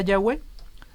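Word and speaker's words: Yahweh: hay evidencias para yagüe por la pronunciación de la forma corta en algunos salmos tenemos la palabra aleluya y hal él es alabar y ya es jehová entonces ya es como la forma breve de jehová sí entonces esa esa pronunciación de la forma corta nos da un indicio fonético de que la primera sílaba estaba compuesta por una y de hecho el sonido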